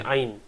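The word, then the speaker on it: عين: You can say ayn.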